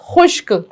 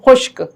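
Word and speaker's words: خشک: खुश और काफ साकिन खुश्क तो आप इस तरह से भी पढ़ सकते हैं डायरेक्ट भी पढ़ सकते हैं खे शीन काफ पेश खुश्क तो सही तलफ्फुज है खुश्क अच्छा इसका जुमला कौन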